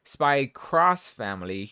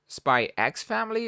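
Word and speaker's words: Spy × Family: well i guess it depends on how you say it because i call it spy cross family you know crossing over but some people have called it spy x family or just spy family pick your poison it's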